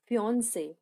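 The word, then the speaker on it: fiancé: मंगेतर को इंग्लिश में बोलते हैं फियोंसे। फियोंसे, लड़का मंगेतर हो चाहे लड़की मंगेतर हो, दोनों को ही इंग्लिश में फियोंसे कहते हैं।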